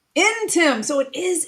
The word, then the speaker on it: Ntim: Ntim. Ntim. So it is Ntim. I didn't know if the N was silent.